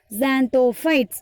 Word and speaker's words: Xanthophytes: can start to pronounce ZXAN, Zan, THO, To, PHYTES, fights. Now it is easy to pronounce Xanthophytes.